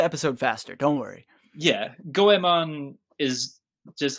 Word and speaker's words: Goemon: all right and i guess the first talking point the first disclaimer i should say is gomon the mystical ninja starring gohan gomon is the